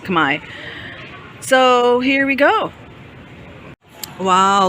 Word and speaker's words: Khmer: architecture is called new Kamai architecture or Khmer if you're pronouncing it literally um in Cambodia though it's pronounced Kamai so here we go